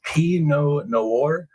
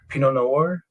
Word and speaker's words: Pinot Noir: It's pronounced Pinot Noir. Pinot Noir.